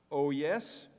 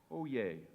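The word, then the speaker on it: oyez: Are there any alternate pronunciations? Oh yes, oh yes, oh yes, oh yay, oh yes, oh yes, or oh yay.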